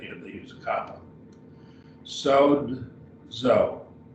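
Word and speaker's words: σῴζω: Sozo, sozo. So it's two syllables.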